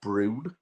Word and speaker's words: Bruin: I know that there was a bear called Brune, which is spelt Bruin, that existed before Billy, but he died before June.